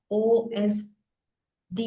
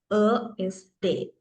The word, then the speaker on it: ÖSD: තමයි මේක pronounce කරනකොට OSD නෙවෙයි. මේක German pronunciation එක ESD.